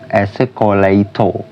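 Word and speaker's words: 에스컬레이터: Terus yang contoh ketiga itu ketika real bertemu real, yaitu esekoraito, tulisannya esekoraito tapi dibacanya itu esekolaito yang artinya eskalator. Esekolaito.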